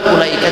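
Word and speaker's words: أولئك: Kalimat ulaika tuh ada alif dan wawu. Ulaika, sementara dibacanya ulaika, tidak ulaika, tidak begitu. Tapi ada wawu di situ. Harusnya ulaika. Kenapa tidak boleh dibaca wawu itu? Bahkan dibuang pun jangan. Tapi tetap harus diadain, cuman dibaca enggak.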